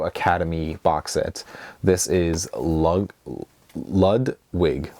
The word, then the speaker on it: Ludwig: box set this is lud wig lud I think it's Ludwig is how you say it lud's wig but I believe this is